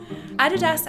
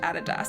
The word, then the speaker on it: Adidas: together to be Adidas So actually there's sort of more impetus to say ADidas because he wouldn't have been aDI He would have been ADi, so ADidas makes more sense with the like word origin stories, but you